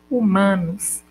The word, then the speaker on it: humanos: Uma letra pode não representar nenhum fonema, como ocorre com a letra H, não pronunciada desacompanhada de outra consoante, como hoje ou humanos.